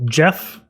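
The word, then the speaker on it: GEF: So I'm going to do GDB install Jeff. It's spelled G-E-F.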